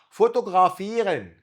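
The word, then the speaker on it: fotografieren: فوتوغرافيرن، فوتوغرا ده اتنطقت غين عشان جه وراه متحرك، وده برضه غين عشان وراه متحرك.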